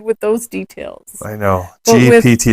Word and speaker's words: GPT: great that you can ask chat GT GTP for an example GPT GPT you say it wrong 90 almost every time see because my mind isn't good with those details I know GPT it's not Grand Turismo